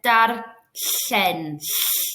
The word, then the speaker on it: darllen: And for darllen, darllen comes at the side of your mouth there.